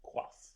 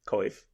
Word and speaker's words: coif: I did not know that Coif was pronounced quaff. Oh. Tell me how you thought it was pronounced. Coif.